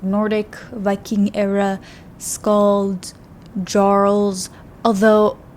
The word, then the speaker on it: Jarl: era scal jarles although I looked up and it said that you pronounce it like Jarl but I thought that the J's and like that language are like are pronounced wise because it's Bjorn not born I'm confused whatever it's